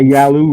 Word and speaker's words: Yalu: That was a big joke after because there is a Yalu River in Korea, so it was the Yalu River by I.P. Daily. Oh, And the guys would mispronounce it Yellow River all of a sudden instead of I've heard you Yalu River.